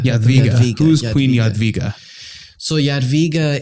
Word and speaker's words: Jadwiga: Queen Jadwiga. Jadwiga.